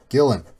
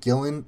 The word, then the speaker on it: Gillan: till the oh shoot I spot your name wrong already you know Gillan I've been calling it Gillian Gillian and it's it's